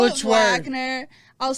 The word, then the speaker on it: Wagner: It's never been Wagner. It's always been Wagner. Do you understand that? Si, senor. There's never been a time in history that it's been Wagner.